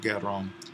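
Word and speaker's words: γέρων: Where is the accent on geron? And it is on the penult, the first syllable, on the epsilon.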